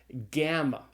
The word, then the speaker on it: gamma: So this is where we have the G sound is called a gamma. And the gamma is pronounced generally with the hard g sound like in the English word gone.